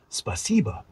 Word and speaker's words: спасибо: How's your pronunciation feeling? Want to add a few more phrases like спасибо, spasiba for thank you, or dive into the Russian alphabet to get the sounds down?